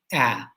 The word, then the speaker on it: aleph: What is the default pronunciation of the Aleph? Because that will become the sound that you make. And I say ah, like alpha and omega, like apple. Just go ahead and say ah.